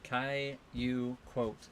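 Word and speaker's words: Qualicum: Caillou quote is how you say it.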